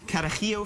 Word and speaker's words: Carajillo: Carajillo 43. Carajillo. Carajillo. Okay. You have to say it like that.